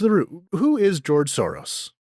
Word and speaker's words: Soros: Or George Soros, but I'm not going to try and pronounce it the Hungarian way because I'm going to get it wrong, and I'll just trip over making that sh sound.